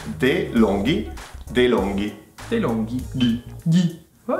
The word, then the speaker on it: DeLonghi: And it's DeLonghi.